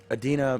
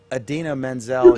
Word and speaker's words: Idina Menzel: Travolta tried to pronounce Idina Menzel, or Menzel's name, and pronounced it, instead of I don't even know how to pronounce it, but Adina You Menzel. pronounce it just like it's written.